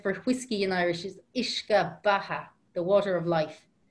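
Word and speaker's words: uisce: Another word is, the word for water is ishka, ishka. Actually, you know the word whiskey in English? Mm-hmm. That's derived from the word for whiskey in Irish is ishka baha, the water of life, ishka.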